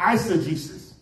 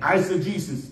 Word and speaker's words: eisegesis: determine the meaning now there's another word called I said Jesus this word answer Jesus is spelled e-i-s-e-g-e-s-i-s again I said Jesus e i s e g e s i